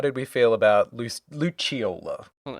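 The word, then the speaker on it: Lucciola: another Legion Enforcer, Luchiola. Yes. And I enjoyed that they went the Italian pronunciation versus Luciola from the games.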